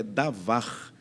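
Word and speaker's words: דָּבָר: expressão palavra no texto original tem a mesma pronúncia tem a mesma raiz verbal em hebraico é davar davar é traduzido como palavra e também todas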